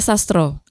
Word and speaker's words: Maya Sastra: Maya Sastro. Ya, kalau di Jawa kan A dibacanya O.